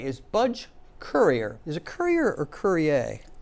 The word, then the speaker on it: Currier: Is it Currier or Currier? Currier. Currier, no French pronunciation on the end of that.